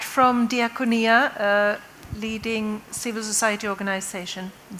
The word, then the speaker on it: Diakonia: Maybe I can answer the Diakonia, that's how you pronounce it.